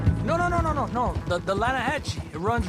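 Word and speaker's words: Lannahechee: caught some beautiful steelhead trout you made an Atlanta hash no no no the Lana hatch it runs right near here yeah but it's pronounced Lana Hass why is everything in English said differently than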